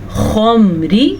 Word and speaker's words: الخمر: پڑھیں گے عن الخمری، خمری، میرے ساتھ ساتھ پڑھے تاکہ آپ کا تلفظ اچھا ہو جائے۔ خا کو پر پڑھا جاتا ہے اور اس کا مخرج کیا ہے؟